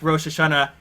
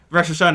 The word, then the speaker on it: Rosh Hashanah: it Yom Kipper and like Rosh Hashanah Rosh Hashanah instead of Rosh Hashanah and like all these weird it follows me and it's like the wrong syllable it does not need